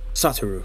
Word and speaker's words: Satoru: Technically, his first name is Satoru. Um, Satoru. That's the better pronunciation.